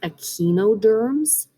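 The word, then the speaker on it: echinoderms: a specific type of worm sponges this is pronounced aquinoderms nigerians are like jellyfish and arthropods which means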